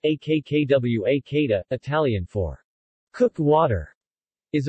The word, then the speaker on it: acquacotta: the quick hada pronounced a k'kaw a kada italian for cook water